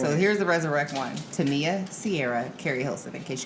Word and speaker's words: Tamia: Tamia or Tamia. No, it's not Tamia. No, it's Tamia.